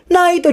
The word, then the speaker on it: Naito: Saat Ewam Sensei menjelaskan, Naito di sini diambil dari kata Knight, yang kalau dibaca dengan pelafalan Jepang akan jadi Naito.